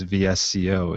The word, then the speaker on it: VSCO: visual supply company so i guess vsco is is the better pronunciation of that yeah i guess so